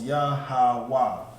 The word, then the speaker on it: Yahweh: So that Wa and Ha becomes Wa. So it's Yahweh. That's correct. Yahweh. In the Hebrew, that's how you say it.